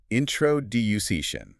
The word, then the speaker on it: introduction: The stress is on the duck. introduction Let's do suggestion.